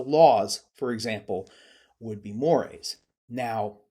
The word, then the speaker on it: mores: at it, it's spelled Mores. It looks like it should be mores, but it's actually French, so the pronunciation is mores.